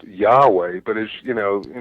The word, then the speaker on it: Yahweh: listen there is this ancient personal name of God that is often pronounced Yahweh.